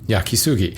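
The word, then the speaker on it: 焼杉: yakas sui due to a Westerner misreading the kanji script and giving the wrong pronunciation of it because of this shushi ban is never called by its true name yakisugi he's absolutely right and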